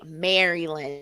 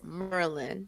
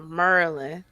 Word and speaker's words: Maryland: Keith, let me just tell you, don't say Maryland. No, it's Merlin. You got to say it like you from here, Merlin.